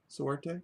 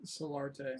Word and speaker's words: Solarte: Soarte? Solarte.